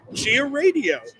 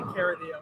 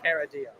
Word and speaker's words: Caradio: It's actually Caradio, but I just wanted you to say Chia Radio. Oh, okay. That's not exactly how it's pronounced, but. All right, so it's Caradio, Caradio. So I was pretty close the first time. So how would you rather have it be pronounced? Well, it's pronounced Caradio.